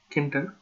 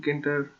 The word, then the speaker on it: Tkinter: Hello there, it is Anton Ghosh, and today we are talking about Tkinter. Yeah, the T is silent.